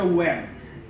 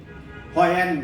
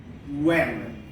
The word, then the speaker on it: when: সো এটার উচ্চারণটা actually W থেকে হবে, এইচটা হবে না। এটা হচ্ছে when, হয়েন না, when।